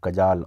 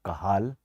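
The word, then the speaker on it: Cajal: Interstitial cell of Kajal or Kahal or Kajal, whatever you can say. These slow waves are generated by interstitial cell of Kahal, or you can say Kajal, whatever you can say, but correct pronunciation is Kahal.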